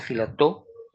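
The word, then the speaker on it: Filatov: Se escribe filateu, filatou y se concia filató y este o también conocido con el nombre de mascarilla o máscara escarlatinosa.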